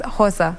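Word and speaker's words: Xhosa: Well, there's so many, but I think it's Hosa.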